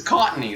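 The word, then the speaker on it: Cottonee: How do you pronounce it? Cottony. Oh, Cottony.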